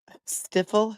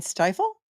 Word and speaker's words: stifle: First Amendment it's not it's not stiffle stiffle has does he mean stifle um he calls incizors